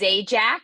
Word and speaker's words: Zajac: don't say it right it's it's zajac i always say it's like pat sajak but with a z not an s sounds exactly the same i'll remember that